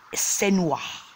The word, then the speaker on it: Senua: sin one sin was the pronunciation is sin wash it's a tribal kind of name I will like it